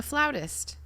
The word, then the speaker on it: flautist: do you know how to pronounce one who plays the flute a flautist okay fine i'm sorry oh i played the